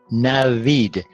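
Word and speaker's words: نوید: And then this v stands at the beginning of the second syllable. Therefore, it occupies the first the first place in the syllable. Therefore, it's pronounced v, v, v, v.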